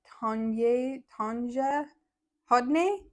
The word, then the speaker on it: Tanja Hodne: So her name is a little hard for me as an American to pronounce, but it's Tanja Hodne, and it's a bulky weight piece.